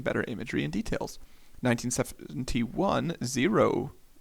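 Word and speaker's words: Xero: imagery and details 1971 zero but like spelt with an x zero mammography was commercially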